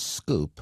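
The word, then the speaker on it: Sqoop: Hadoop includes facilities such as Scoop, which is spelled a little funny, S-Q-O-O-P, and that's used for bulk data transfer from relational databases as quickly as possible.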